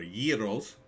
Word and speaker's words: gyros: but after the South Jersey name the best gyros in Jersey well maybe we get this one uh or year olds as they're actually pronounced I love me a good gyro the